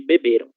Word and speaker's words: beberam: Se o verbo tiver essa terminação em ão, nós vamos fazer a leitura com a sílaba tônica ão. Beberão, beberão, diferente de beberam, OK?